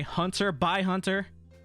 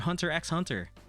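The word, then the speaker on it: Hunter × Hunter: Great Pretenders amazing anime Hunter by Hunter guys the X pronounces by please Spy bye family it's a great anime um I know people do be saying Hunter hunts or Hunter x Hunter it's a great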